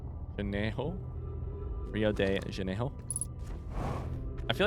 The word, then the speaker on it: Rio de Janeiro: The R is pronounced like an H. Janeiro? Rio de Janeiro?